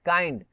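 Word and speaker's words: kind: हाँ लेकिन एक ये है जैसे काइंड है, काइंड, इसमें क्या हो जाता है, आई आ जाता है, ये एक तरह से अपवाद की तरह भी देख सकते हैं। काइंड, किंड नहीं बोलते इसको, इसको क्या बोलते हैं, काइंड बोलते हैं, आई प्रोनाउंसिएट हो जाता है यहाँ पे, ठीक है।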